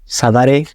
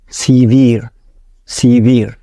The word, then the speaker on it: severe: How do you pronounce this word? Savare? No. Severe.